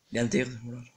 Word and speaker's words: Yandere: Übrigens muss es so ausgesprochen werden. Okay. Yandere.